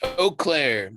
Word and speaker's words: Eau Claire: well you're you're from is it you claire is that how you say it oh it's eau claire okay it means clear